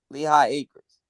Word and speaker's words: Lehigh Acres: no ideas hey trust me hey how you spell that town l e what l e h i g h lehigh okay a-c-r-e-s lehigh acres gotcha yeah we all gonna be at the